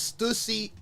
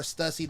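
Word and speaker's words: Stüssy: This is Stusy or Stussy, depending on how you say it. I'm American, so I normally say Stussy, but I'm gonna say Stusy.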